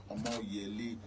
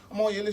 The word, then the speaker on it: Omoyele: Omoyele Soworeon. Omoyele Soworeon is the founder of Sahara Reporters.